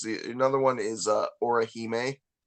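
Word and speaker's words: Orihime: The another one is uh Oraheime. How do you spell that?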